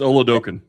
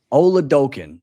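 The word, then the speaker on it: Oladokun: And obviously, Chris, the backup, the third-string quarterback, I don't want to mispronounce his name. It's Oladokin. Oladokin this week said, we want to try to play spoils.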